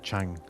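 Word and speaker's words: Tchang: Um, so in French, you pronounce it Chang, and the whole bit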